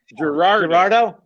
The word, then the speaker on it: Girardeau: You said Cape Girardeau. No one ever pronounces it Girardeau. How do you say it? Girardeau.